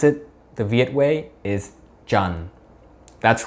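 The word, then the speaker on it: Trần: last name tra n how you're supposed to pronounce it the Viet way is John that's right it's supposed to be Natalie Jung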